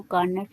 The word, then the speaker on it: Carnot: कार्नट theorem को define करेंगे। सबसे पहले हमारे पास कार्नट engine. कार्नट engine, कार्नो वैसे इसको सही लफ्ज बोलते हैं, कार्नोट नहीं बोलते, कार्नो टी साइलेंट।